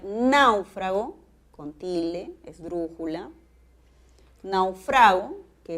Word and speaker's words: náufrago: siguiente con la siguiente serie de palabras puedo pronunciar náufrago con tilde esdrújula naufrago que es un verbo